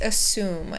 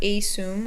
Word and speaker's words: assume: first one is that the first syllable is a schwa so it makes an uh sound so we can say uh assume not asum or anything like that and the second one